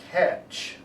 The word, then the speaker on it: catch: hear it very strongly catch you remember on the spelling ca8 that's what you hear and then you're missing a tea because the T is silent do you remember that